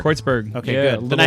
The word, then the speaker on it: Kreuzberg: That's how you say it, Kreuzberg. Kreuzberg.